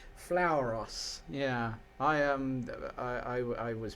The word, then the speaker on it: Flauros: Flauros. Yeah, I was pronouncing it with the because we always used